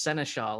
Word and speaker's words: Senechal: It's Senechal, and it's a nightmare to say, so no problem. So you'll have Probably to not for people who speak French, because that's where it comes from, but okay.